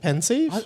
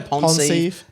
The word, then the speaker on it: Pensieve: Pensieve. Some people say pensieve. Some people say ponsieve.